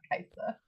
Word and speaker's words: Kai'Sa: I'm all I'm all about Kaisa.